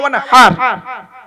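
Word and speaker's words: وَانْحَرْ: আতাইনাকাল কাউসার ফাসাল্লি লিরাব্বিকা ওয়ানহার। ভালো করে উচ্চারণটা শিখে নিন। ফাসাল্লি লিরাব্বিকা ওয়ানহার, ওয়ানহার নয়, ওয়ানহার। এই গলার ভেতর থেকে হে এটা উচ্চারণ করবেন।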